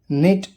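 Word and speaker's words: knit: के, जब एन से पहले के आता है तो वो के साइलेंट होता है, अक्सर शुरुआत में होता है। नो जानना, नी घुटना, नॉक खटखटाना, नॉब कुंडी, निट बुनना।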